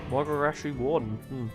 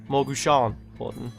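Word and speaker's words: Mogu'shan Warden: Morgogashi Warden. Is that how you pronounce it? Morgogashi? Morgushan Warden.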